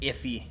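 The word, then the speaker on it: IIFE: of coined by the industry which is an iffy which is spelled iif ii and actually better slide to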